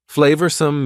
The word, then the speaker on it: flavorsome: Flavorsome means delicious and full of flavor. Notice the pronunciation. 2 schwa sounds there.